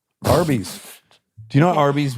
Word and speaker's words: Arby's: But you're thinking of Arby's Beef and Cheddar. Horsey sauce. Oh man. Yeah. First of all, I don't think a everyone realizes Arby's is phonetically spelled RB.